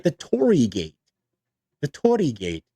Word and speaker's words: Torii: It's a hard O and then the kind of rolled R and then the two I's make an E, so it's a Torii gate, right? You hold it a little bit.